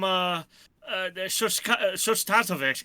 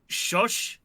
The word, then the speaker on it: Shostakovich: Let's see what happens when I add in some, Shostatovich, if I can't fucking pronounce his name. Shostakovich.